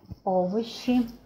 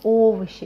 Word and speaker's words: овощи: Or here we have о sound, овощи, because it is stressed, we pronounce it as о, as it is written, yes? When it is not stressed, we pronounce it as а, like in this word, официант. Официант is not stressed, but here it is stressed.